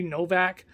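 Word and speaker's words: Nowak: mariah novak no akron it's n-o-w-a-k i'm gonna say novak i'm going to pronounce it with the german wv and wv sound because that makes more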